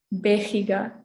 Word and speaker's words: vega: and incident okay so the v is the same as a b so in spanish it would be be so we have baleroso and vega okay is that all